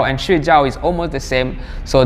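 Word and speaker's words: 睡觉: different meanings, or just if you miss the right pronunciation, you are saying another things. For example, sleeping, 睡觉, that means sleeping.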